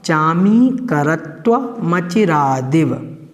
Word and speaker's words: चामीकरत्वमचिरादिव: इस प्रकार से इसका उच्चारण होगा चामीकरत्वमचिरादिव।